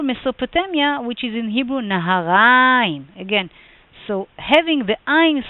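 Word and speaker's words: נהריים: the end, or Mesopotamia, which is in Hebrew Naharaim.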